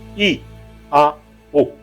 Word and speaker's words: IAO: I, A, O. Se pronuncia alongando cada vogal.